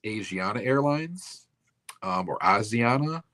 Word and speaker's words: Asiana: And then in 2013, I don't know if it's pronounced Asiana Airlines or Asiana. It's ASIA, like Asia, then NA.